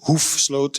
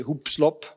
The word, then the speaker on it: Hoefsloot: My second name, which is difficult to pronounce, is Hoefsloot in Dutch, but the French say Hoepslop, and you know there's lots of different ways to but I'll listen to any of them.